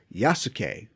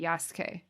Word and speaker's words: Yasuke: like with sue um sometimes you lose them in the pronunciation so sometimes i think it might actually be yasuke yes yes yeah that's